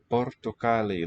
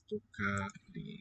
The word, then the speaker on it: πορτοκάλι: Portocali. There's accent on the ka.